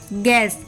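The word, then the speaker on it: guess: फर अ vowel यानी कि जी के बाद साइलेंट होता है और किसी वॉवेल के पहले जैसे जी यू E double S गैस जी यू आई टी ए R guitar ji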